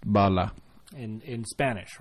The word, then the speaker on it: bala: what it's translates to yes a bullet is pronounced Bala and in Spanish right yep yeah so kind